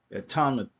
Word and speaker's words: Etanyam: Um, the way to pronounce this right here is Etanyam. Okay, Etanyam. That's how you pronounce it.